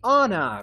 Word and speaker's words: honor: are two more okay honor very good and evil yes honor we don't say it's been a it's